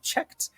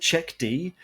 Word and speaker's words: cheqd: talk about yourself and tell me if I pronounced checked correctly firstly you did and thanks for having us and thanks for having me so yep you're pronouncing it correctly when we were creating the name a few people came back with it is it check D and like no but it was basically